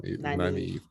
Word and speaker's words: Nynaeve: She said your name wrong. Nynaeve.